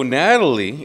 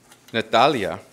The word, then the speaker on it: Natalia: So Natalie is an eighth grade student at Dr. Armando Cuellar Middle School and is the daughter of Viviana Rodriguez and Raul Rodriguez. Natalia is the way it's pronounced.